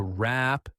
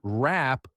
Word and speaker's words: wrap: To wrap things up. To wrap things up. Notice that the W at the beginning of the word wrap is not pronounced.